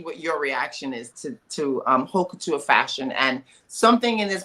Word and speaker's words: haute couture: So when you hear hoe, you think of a different word for haute couture. You said hoe? Haute couture. It's pronounced haute couture, but I know how it's HAUTE.